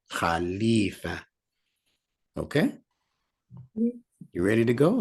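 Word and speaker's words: خليفة: a h that's correct and sometimes if you're reading it in a book instead of ee they might put an i but the sound for pronunciation sake is double e not Khalifa Khalifa okay you ready to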